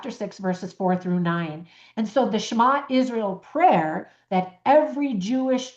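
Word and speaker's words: Shema: So, the word is schma. Do did you ever learn that word? It's spelled shama.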